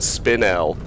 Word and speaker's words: spinel: According to the dictionary, you pronounce it spinel. Well, thank you, Nyron. There we go. Spinel it is.